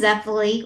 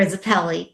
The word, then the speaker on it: Zeppeli: Baron Zeppily or Zapelli, depending on how you say it. People say it both ways, is here at last.